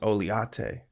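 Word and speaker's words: Oleato: He goes, no, it's pronounced Oliate.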